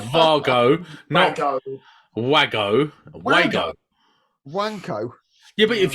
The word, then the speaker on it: Wago: if there you go is it Vargo that ought to be called Vargo is is the German way to pronounce if they're said to